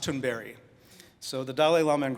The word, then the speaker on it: Thunberg: Now, Greta's last name, we call her Thunberg, but it's actually pronounced Thunberry.